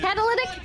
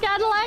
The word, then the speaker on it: catalytic: Catalytic, not Cadillac? I'm on the way! I don't know how it's pronounced! Catalytic! Catalytic! Catalytic! Catalytic? Chat, I swear, I've always heard it as Cadillac! Catalytic, like catalyst.